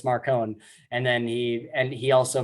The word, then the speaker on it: Marcone: So like at first Marsters is calling Marcone Marconi, and then Yeah. Jim Butcher sits him down. He's like, no, it's Marcone.